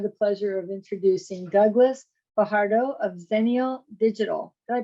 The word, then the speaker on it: Fajardo: today I have the pleasure of introducing Douglas Fajardo of zenial digital did I pronounce that correctly yeah you do okay good